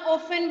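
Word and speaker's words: often: ऑफ्टन मैंने क्या बताया था, किसी बच्चे ने इस वर्ड को ऑफ्टन नहीं बोलना। किसी भी बच्चे ने इस वर्ड को ऑफ्टन नहीं बोलना, ऑफ्टन बोलना है। टी is silent here.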